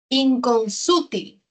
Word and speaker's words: inconsútil: Inconsútil. La mayor fuerza de voz está en la sílaba su.